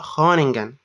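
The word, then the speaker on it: Groningen: وقلتها غلط برده يعني هنا بتتنطق خانجن ار ما بتتنطقش لا خلي بالك انا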